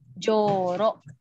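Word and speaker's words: じょうろ: basic isodense ditambahin enteng ada Joe kecil itu bacanya Jo karena dia panjang itu ada huruf uh setelahnya terus ada huruf Oke ada huruf rok ini bacanya jorok untuk yang ada huruf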